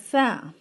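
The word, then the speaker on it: ف: Te will be pronounced as Ta, and Fe will be pronounced as Fa.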